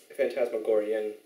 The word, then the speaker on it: Phantasmagorian: Is it pronounced Phantasmagoria? Phantasmagorian.